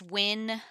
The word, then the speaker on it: Wynn: Wynn. It's pronounced Win, like we will win the championship game.